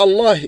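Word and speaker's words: الله: Mais, il y a une règle pour prononcer Allah. À l'exception de, toujours Allah, il est gros. Allah, ça sort qui remplit la bouche. C'est un son grave, ils disent.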